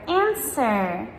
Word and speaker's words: answer: Words like sword, I fight with my sword, or answer, give me the answer, or right, or to, right?